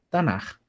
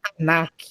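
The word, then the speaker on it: תנ״ך: Por que a gente não lê Tanak, mas Tanar?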